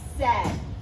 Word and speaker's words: said: Here it's saying that the A and the I says eh, right?